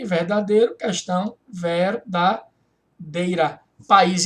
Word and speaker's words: país: Aqui você tem, ó, um I formando sílaba sozinho, tônico, em hiato, formando sílaba sozinho, seguido de S, que é a acentuação dos hiatos.